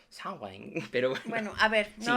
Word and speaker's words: Samhain: el mes de noviembre se llama samaín Bueno creo que es más como sawain pero bueno a ver